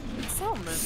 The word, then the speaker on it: salmon: Yeah, salmon. What? Salmon. It's pronounced salmon. Why is there an L there?